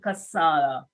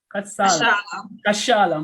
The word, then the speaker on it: Kashala: Kasala. Did I pronounce it properly? Kashala. Kashala.